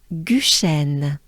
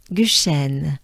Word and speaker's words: Guchen: So to pronounce the U, you drop your mouth, your lips, and your jaws. So they all drop down. U. U. And it's a very small opening of your mouth.